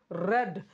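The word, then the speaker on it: read: এটা চালানো হয়েছিল আমার দ্বারা the book is রেড the book ওয়াজ হবে এখানে দ্যা বুক ওয়াজ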